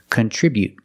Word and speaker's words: contribute: T contribute contribute but the stop T is more natural and more common contribute to stop the air with the tongue and don't release the T contribute remember to put the stress on the second syllable contribute contribute besides I